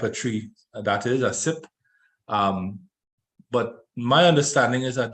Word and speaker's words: CYPRE: It's pronounced CYPRE, it's spelled C-Y-P-R-E.